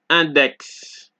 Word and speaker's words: index: Exceptions being six and index, right?